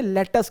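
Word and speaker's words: lettuce: सभी आप सारे लोग जानते हो, लेट्यूस, कॉटन, टोमेटो, काउपी, उसे लेट्यूस नहीं कहा जाता एक्चुअली। मैं थोड़ा सही प्रोनाउंसिएशन बता देता हूं क्योंकि हम लोग सही प्रोनाउंसिएशन उतना कर नहीं पाते, इसे लेटस कहा जाता है, पर मैं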